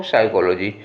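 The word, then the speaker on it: psychology: अब दूसरे वाले में साइकोलॉजी, क्या पढ़ा जाता है इसको, साइकोलॉजी। तो साइकोलॉजी में SYCHOLY का किया हमने और पी को प्रोनाउंस नहीं किया, तो पी साइलेंट है।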